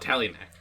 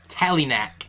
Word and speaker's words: Talinac: say it yeah because my youtube name is not tally next tally knack it's spelled t-a-l-i-n-a-c amazing amazing that's my